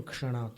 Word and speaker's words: क्षणात्: पापं क्षणात्, पंख जैसा उच्चारण आएगा, क्योंकि क्षणात् में क है और षटकोण वाला श है। कष योगे क्षः, क और श को मिलाने से क्ष बनता, क्षत्रिय का।